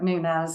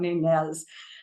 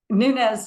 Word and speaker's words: Nunez: are Louisiana so yes we say it Nunes I'm not mispronouncing it it is not nunz um Nunes has recently built a